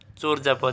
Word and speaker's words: চর্যাপদ: তা চর্যাপদের সঠিক উচ্চারণ কি হবে? চরজাপদ।